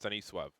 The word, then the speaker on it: Stanisław: No, I think it's a Polish name, which would be pronounced Stanisław.